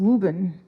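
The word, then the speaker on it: Woburn: Wen Wurn W O B U R N which is near pronounced Wuben near near Burlington and Winchester.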